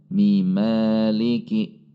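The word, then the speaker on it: مالك: Di sini ada huruf mim berharokat kasroh pada akhir ayat yang ketiga, kemudian ada mim berharokat fathah pada awal ayat yang keempat. Maka cara membacanya ketika disambung adalah Ar-Rahmanir-Rahim Maliki. Jadi cara membacanya Mimaliki.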